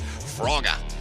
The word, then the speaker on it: Frogger: I going to say whose name is actually pronounced froga because they literally wrote